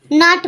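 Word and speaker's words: knot: त्याला silent letter म्हणतात नॉट म्हणतो के उच्चारत नाही तरी पण तो त्याच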